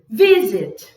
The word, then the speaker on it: visit: prefer prefer I prefer prefer e o Visit Visit Visit Visit é um gráfico de vocal você